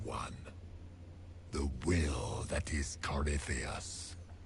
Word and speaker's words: Corypheus: The will that is Corypheus. Common mispronunciation is Corey Phoenix.